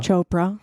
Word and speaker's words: Chopra: I'm reading a book deepo right now um Chopra that's how you pronounce his chpr Chopra thank you and um it talk it's mostly